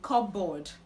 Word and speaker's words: cupboard: Now, this word is commonly pronounced cupboard, but the right to pronounce this word is cupboard, cupboard, cupboard.